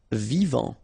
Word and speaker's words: vivant: Vivant. Final T not pronounced. Vivant.